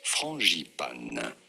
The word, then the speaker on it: frangipane: For reference, in France, we say it as frangipane.